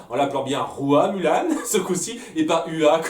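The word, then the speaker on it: Hua Mulan: Ça a repris la légende de Rua Mulan, en l'appelant bien Rua Mulan, ce coup-ci, et pas Ua, comme je l'ai dit là, dans ma critique du film. Au tout début, hein, j'ai Ua Mulan, parce que oui, moi c'est comme ça que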